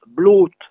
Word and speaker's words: blot: Logiquement, je le prononce comme KLOT, puisque BLOT et KLOT, ça va ensemble. KLOT se disant clotte, je prononce blotte, ben c'est faux. On prononce blotte.